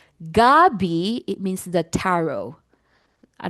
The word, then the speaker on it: gabi: Because if you say Gabi, it means the tarot. I don't know if you know that tarot. It's like um it's gab but if you say gabi, it means evening.